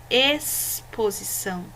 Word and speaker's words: exposição: chiado chamada e chamado o x aqui nessas palavras gente no exposição extremidade experiência e exclamou o x não tem um som de xaxexixoxu como essa sílaba que hora do chá tá bom ele tem um som de s observe exposição extremidade experiência